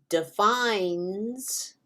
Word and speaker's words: defines: However, if I add an S to defines, you don't hear the E at all. All you hear is the N going into the S.